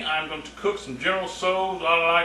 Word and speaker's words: General Tso: I think I used to pronounce it General Towels. and she let me know that was not how you pronounced it. She said you pronounce it general so I have pronounced it that way ever since.